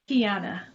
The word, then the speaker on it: Keyonna: Keyonna, is it? Am I pronouncing it correctly? There's so many ways to say it. No, Keyonna. Keyonna. Yes, Keyonna. Welcome to the show.